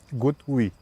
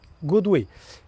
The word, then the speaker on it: GoodWe: So when you see this thing, how do you pronounce it? GoodWe. GoodWe.